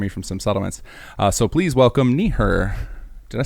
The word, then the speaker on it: Neeher: Yes, Neeher, N-E-E-H-E-R. It's like Neeher. I've heard all kinds of different crazy pronunciations, but it's always just, it's a lot simpler than it seems.